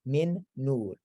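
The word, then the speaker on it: مِن نُور: So an, if you say from light, min nur, the noon merges into the next noon and you double it a little bit with that nasalization.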